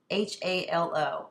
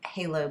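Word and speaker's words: phthalo: I'm going to say middle Halo blue you'll you can see how it's spelled it's p HT h a l o I'm just going to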